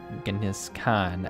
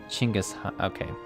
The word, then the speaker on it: Genghis Khan: And for what it matters, Genghis Khan, as actually pronounced Chinggis Khan.